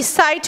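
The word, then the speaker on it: site: Now they are pronounced the same, whereas the spelling changes, right? So S-I-T-E, sight, means a piece of land.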